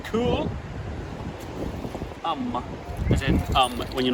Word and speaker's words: Coolum: how you say it what kulum or kulum why are the keys over there kulum you think colum colum c u l u m it's cool um in um when you're